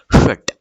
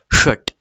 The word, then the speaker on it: षट: तो ये षट का श कैसा है? प जैसा है, तो हम कैसे कहेंगे? षट। षट, ठीक है। प्रोनाउंसिएशन में डिफरेंस समझ आया?